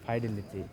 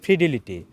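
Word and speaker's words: fidelity: আচ্ছা, এটা হবে ফাইডেলিটির উচ্চারণ হবে ফিডিলিটি।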